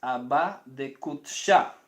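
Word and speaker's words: Abba de qudsha: La forma más correcta de decirlo sería, como esto es una palabra aramea, Abba. Entonces, Abba de Kutsha.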